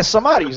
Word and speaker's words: Samaris: But yeah, Samaris. That's the way you say it.